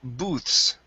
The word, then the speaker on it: booths: Uh, next is uh is the word booths right here. Okay. So, this is going to be an ooh sound.